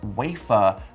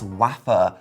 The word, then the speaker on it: wafer: My dad used to always pronounce wafer as waffer because of the waffer thin mint in Monty Python.